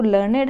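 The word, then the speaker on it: learned: ठीक है, B pronounce it एज लर्नेड to rhyme with created weighted. अब हम जो लर्नेड है उसको हम कैसे प्रोनाउंस कर रहे हैं?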